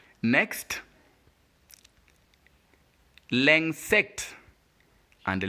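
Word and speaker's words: l'insecte: But since it is joined with N here, I-N, that is why the sound is different and is pronounced ung. Remember I said whenever you see UN and IN, they have the same sound. UN is IN is equally So that's why we get the word pronounced l'insect. L'insect.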